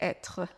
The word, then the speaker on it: être: devait ça devait omarc prononce bien le R de être ça devait être ce qui va vous